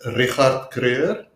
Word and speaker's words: Richard Kruger: Yeah, so my name is Richard Kruger. That is actually how you say my name.